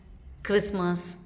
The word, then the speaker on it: Christmas: It is silent in words like castle, Christmas, bustle.